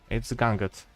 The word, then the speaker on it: Gangut: If not, then Paryżskaya Komuna or Oktyabrskaya Rewolucja or Gangut, or I forgot how to pronounce it. It's Gangut. Gangut class.